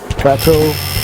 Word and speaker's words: Plato: Uh tattoo I'm doing today is uh Plateau. Is that how you pronounce it? Yeah. Plato.